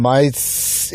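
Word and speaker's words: うまいです: 지역서 맛있어요라고 표현할 때 우마이 데스 이렇게 정확히 발음 안 하고 우 거의 발음 안 하고 마 이게 아주 짧게 들리면 우마이 데스가 어떻게 들려면 마스 이렇게 들려요 마이만 해도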